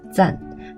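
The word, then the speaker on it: 战: But in the Chongqing dialect, Zhan is pronounced Zan, so let's just say that his name is Xiao Zan.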